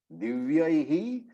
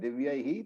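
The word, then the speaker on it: दिव्यैः: So, why do you pronounce that Divyaihi? Because anybody knows why is it pronounced Divyaihi and not Divyai? So, a few pointers here. The first matra is ye, the second matra makes it yai.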